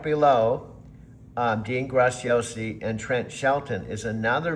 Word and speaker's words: Dean Graciosi: Dean gracias with the Italian pronunciation not the Spanish muchas gracias.